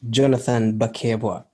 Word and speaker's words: Jonathan Bakebwa: your name the way it's supposed to be pronounced my name is jonathan baker oh i don't think i was i was